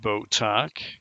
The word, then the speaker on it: Botok: Okay, this is Botok, which rhymes with buttocks.